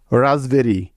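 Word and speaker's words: raspberry: যেমন বি এর আগে পি সাইলেন্টের কিছু উদাহরণ, রাসবেরি, RASP, BERRY, রাসবেরি।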